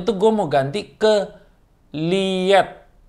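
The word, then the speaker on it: Leatt: Awalnya tuh gue mau ganti ke Liat. Liat apa Lit sih? L-E-A-T-T, gue bacanya Liat ya.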